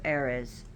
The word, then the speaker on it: Ares: And it is said that she was cursed by Aphrodite herself because Eos had an affairs with Ares, but he's pronounced Ares.